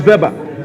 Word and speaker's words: Weber: pronounce it correctly Max Weber I hear that the Germans make V okay so then I was right was always good to